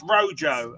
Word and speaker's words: rojo: any Spanish speakers out there, it's Rojo.